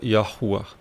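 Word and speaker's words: יהוה: Aqui está o tetragrama yud revre e se pronuncia yahu tá o que estendeu o céu, fundou a terra e formou o espírito do homem dentro dele.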